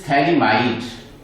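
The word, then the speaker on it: phthalimide: pH is silent here. It is thalamide.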